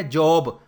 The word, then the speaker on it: Job: ایوب کو کہتے ہیں جاب.